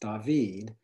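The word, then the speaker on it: דוד: In Hebrew, it would be pronounced David, and those are three Hebrew letters, D, V, and D.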